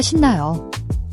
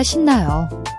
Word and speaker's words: 신나요: The shin-NA-yo is pronounced as a soft sh sound, similar to she in English, not a hard s sound.